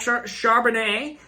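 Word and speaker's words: Charbonnet: football number 17 Zack Chardonnay um I think that's French there's a t at the end but I don't pronounce that t uh really middle of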